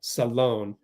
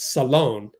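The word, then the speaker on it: Salaün: do you pronounce Janelle Salone? I thought it was Saloon. For some reason, the WNBA, including Channel 5, thinks it's Salon. It's not Salon, it's Salone. We just did a touchdown pass to CC.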